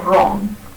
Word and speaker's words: wrong: And when you find w in the spelling of the word, it is pronounced as v, or it could remain silent as in right or wrong.